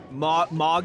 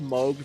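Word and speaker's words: Mohg: hate also I hate the fact that it's pronounced MOG I said Moog for the longest time that I was told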